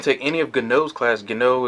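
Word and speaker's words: Guinot: Gano is G-U-I-N-O-T, if I'm probably mispronouncing that, I mean misspelling it, but it's pronounced Gano.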